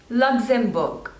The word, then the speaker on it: Luxembourg: Libya Libya next is Luxembourg Luxembourg so there are three slavers and the stress is on the first one Luxembourg luxembourne next is